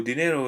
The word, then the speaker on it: dinero: So the second to last syllable usually receives the stress. For example, here there is no accent for dinero, which means money. So dinero is pronounced dinero.